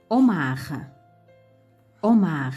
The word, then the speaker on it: homard: peux pas me prononcer ici on ne peut pas le prononcer 2 h devient muet en écrit mais on ne prononce pas comme omar omar à hérisson hérissant haricots